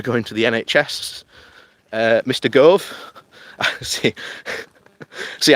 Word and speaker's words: Gove: Gove. See, I have to put on another accent to say his name properly. Otherwise I say Grove.